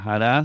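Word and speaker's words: χαρά: solo déjeme verlo aj hará se tilda en la última sílaba alegría entonces así vamos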